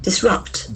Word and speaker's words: disrupt: Disrupt. Disrupt. It has got two syllables and the accent falls on the second syllable.